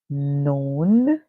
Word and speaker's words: known: The I silent, the A makes the sound known. The K is silent, the N makes the sound. The OW says O and known.